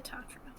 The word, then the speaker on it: Tatra: I don't remember how to pronounce it. The Tatra? The Tatra.